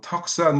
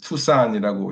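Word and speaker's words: Tucson: 이렇게 TUC S 써 놓기 때문에 사람들이 뭐 미국 사람들도 뭐 턱산 뭐 이렇게 하고 뭐 이거 어떻게 읽냐고 얘기하는 사람들 많은데 우리 현대자동차 나오는 것처럼 투산이라고 읽고요.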